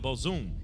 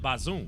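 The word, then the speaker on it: Bazoum: for brothers like this we got to give them the people the right pronunciation please right read it again come on yes sir soldiers and claim to have overthrown president Muhammad bazoom because we've got to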